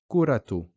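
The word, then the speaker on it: كرة: kurato so here that that marbuta is being pronounced as a dhamma we say kuratu you can see here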